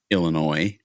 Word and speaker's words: Illinois: I used to go when I lived in Anna, Illinois with the s is silent and in the southern Illinois.